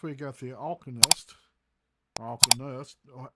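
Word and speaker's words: Alkonost: All right, now since we got the alanist or alenist, that's how it's pronounced.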